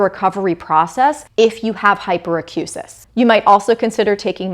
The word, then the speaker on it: hyperacusis: So hyperacusis or hyperacusis. I have heard them pronounced both ways. I was taught to say hyperacusis in graduate school, so that's what I'm going to go with in my videos.